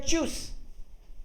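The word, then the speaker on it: Tschüss: इसलिए पढ़ रहे हैं क्योंकि TSCH को तो चे पढ़ते हैं और स्पेशल कलेक्ट जो ये वाला था इसको यू पढ़ते हैं। ठीक है, तो ये हो गया चूस, करेक्ट। साइलेंट कर देता हूं राकेश, आपको एक बार आप एक बार सुनिएगा। सो TSCH खुद TSCH मिलके तो चे बना था और फिर यू को यू ही पढ़ते हैं, तो ये हो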